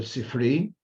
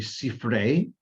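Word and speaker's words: ספרי: by mid-born Devore him in Yiddish it's called the sifri the more correct pronunciation would be sifere and the full word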